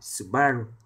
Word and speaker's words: Subaru: Subaru mà theo tiếng Anh thì chúng ta đọc là Subaru Subaru hãng sản xuất siêu xe à Không